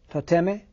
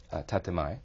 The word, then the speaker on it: tatemae: And there are two terms that you use, and you're going to have to correct my pronunciation. Tateme? Tatemai.